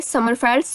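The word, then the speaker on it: Sommerfeld: इसको समरफील्ड्स भी कुछ लोग स्टडी करते हैं, पढ़ते हैं, और कहीं कहीं पर जो आई है वो साइलेंट होने की वजह से समरफेल्ड्स भी कहते हैं।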